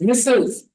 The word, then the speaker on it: Ms: say Mr r s misses if you know that they're married then you don't know then you go with M and S you pronounce it Miss but you write Ms means I don't know